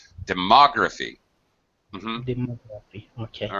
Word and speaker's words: demography: And pronunciation of demography, second syllable stress. You pronounced it Demography. Yeah, you pronounced it correctly. You just missed the stress. Demography.